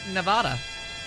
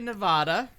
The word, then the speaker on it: Nevada: And Nevada.